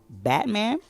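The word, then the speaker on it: BVTMAN: week is going to go to Batman but it's spelled BVT man uh I've been uh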